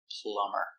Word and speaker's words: plumber: plumber is and that's the reason the B is silent plumber he's a plumber plumber PL M Plum plumber